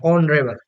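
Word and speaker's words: honourable: ये vowel sound आ रहा है। आपका प्रोनाउंसिएशन अगर गलत है तो आप इसके अकॉर्डिंग तो कॉन्सोनेंट साउंड करोगे। कॉन्सोनेंट के अकॉर्डिंग आप ए कर दोगे, जो कि आपका गलत है।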